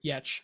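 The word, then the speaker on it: Giertz: Adam Savage Simone uh Simone Gertz or yatch if you say it properly uh Laura come for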